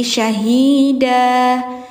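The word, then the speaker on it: شَهِيدًا: Nah, ini bacanya jangan syahid tapi syahida. Kenapa? Karena harakatnya tanwin fathah. Setiap ada huruf di akhir harakatnya tanwin fathah bacanya dipanjangkan. Jadi yang yang awalnya syahidan jadi syahida gitu. Hukumnya mad iwad.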